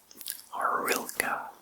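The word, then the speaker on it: horilka: even the food is inexpensive ukrainians love drinking orila which is spelled h o r i l k a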